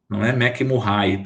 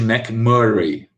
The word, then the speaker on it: McMurray: de molho oi e a pronúncia gente é mcburney mcmurray eu sei que tem professores que fala como é que não vai mas não dá né gente é teste de mcmurray né assim que se pronuncia né em inglês é assim que se pronuncia teste mcmurray outro que a